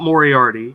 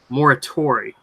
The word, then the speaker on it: Moriarty: I say it wrong it's not Moriarty it's Maura Tori yes you keep yeah